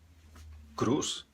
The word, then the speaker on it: cruz: nós estamos aqui é são as palavras que acabam com z n por exemplo Cruz nós dizemos Cruz em português essa z s Cruz em espanhol da Espanha seria cruz cruz tudo bem então nós